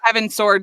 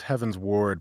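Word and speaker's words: Heavensward: yeah, I've been saying Heaven's Sword since it came out because I'm a dummy and don't read, apparently. So I just kept reading Heaven's Sword. Yeah. And I was like, it's pronounced Heaven's Ward most likely.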